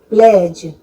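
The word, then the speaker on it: pledge: Beige, प्लेज, इन सब में D silent होता है।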